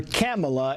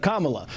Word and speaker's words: Kamala: to mispronounce her name calling her camela instead of Kamala some believe Harris lowprofile